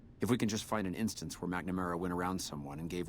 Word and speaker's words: McNamara: There's no A there, but it's pronounced McNamara for whatever fucking reason.